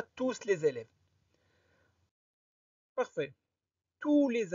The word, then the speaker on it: tous: les c'est bon et ne prononcez pas s ne dites pas tous les élèves parfait tous